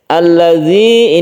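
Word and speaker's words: الَّذِي: Alladzi ini yang perlu diperhatikan yaitu zalnya ya. Kadang-kadang kita terlewat bahwa zal ini ada titiknya. Itu berbeda cara pengucapan dengan dal yang biasa.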